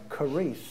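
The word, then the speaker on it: χάρις: It's pronounced something like charis.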